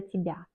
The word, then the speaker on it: тебя: Par exemple, Я рада за тебя. Je suis contente pour toi. Тебя, on écrit Y, mais on prononce comme I.